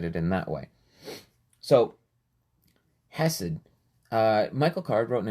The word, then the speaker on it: hesed: book on the word hessed and and i'm pronouncing it wrong i know it's acid you gotta give it like that phlegm in the back of your throat but um he wrote